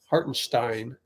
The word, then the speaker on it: Hartenstein: Miles Turner against can you sub har hartenstein hartenstein figured out how to pronounce that oh oh so the thing I